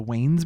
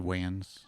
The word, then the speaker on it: Wayans: 2006 by the the Wes Brothers. Is that how you say it? Yeah. I've always said ways. It's like spelled like W A Yan Ns.